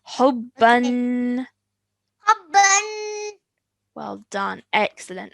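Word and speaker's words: حبًا: Okay, it has a tanween on the top. Fathatain. Hubban. حبا. Well done. Remember that elongated nasal sound at the end of the tanween is really important to remember, okay?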